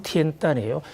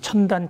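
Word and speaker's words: 天坛: 가장 그 역사적 또 하늘과의 연결 면에서 가장 중요한 곳이 바로 티엔단이라는 중국 발음으로론 티엔단이에요. 한국에서 천단 천단하지만 하늘의 단 이런 뜻인데요.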